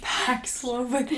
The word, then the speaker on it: Paxlovid: Paxlovid. Like, it rhymes with COVID.